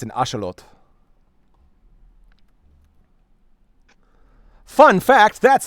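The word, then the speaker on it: axolotl: Yeah, it's an it's it's an ashelot. Fun fact, that's how it's pronounced.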